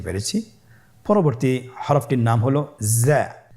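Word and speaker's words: زاي: স্ক্রিনে দেখুন, হরফটি দেখতেই রয়ের মতোই, শুধুমাত্র রতে নুক্তা ছিল না, জায়ের উপর একটি নুক্তা রয়েছে। কতই সহজ। তাহলে হরফটির নাম কি? জা। আবার বলুন, জা। উচ্চারণ করার সময় অবশ্যই এক আলিফ টেনে পড়তে হবে, এক আলিফ টেনে পড়তে হবে।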